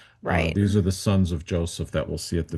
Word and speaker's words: Joseph: So let me just give you a preface here about Joseph. In Hebrew, his name is Yosef. Yosef. In English, we say Joseph. We put the accent on the first syllable.